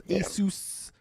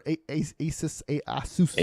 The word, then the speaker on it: Asus: So right now there's Asus or Asus, whatever the hell they want to pronounce it. Asus is the way they pronounce it themselves.